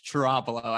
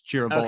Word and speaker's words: Ciravolo: It's Ciravolo, actually. And in Ciravolo. Italy, they really announce the vowel. So it's Ciravolo.